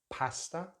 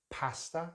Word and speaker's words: pasta: Next word we have in British English, pasta, pasta. So again, it has that short vowel sound that we find in the word cat.